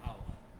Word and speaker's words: hour: Like an hour. For example, use an hour, an honor. Here H is silent. We cannot pronounce H here.